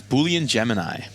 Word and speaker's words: Boolean Gemini: It's Boolean Gemini. Boolean Gemini. I'm surprised you pronounced that correctly on the first time because I would have totally butchered it.